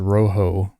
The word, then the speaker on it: Rojo: Rojo yes it is Roo is how it's pronounced it is uh Spanish for red um even though it's